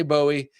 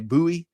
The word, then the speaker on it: Bowie: I say Bowie. That's how I learned it way up in Ohio. And I know down south you say Buoie.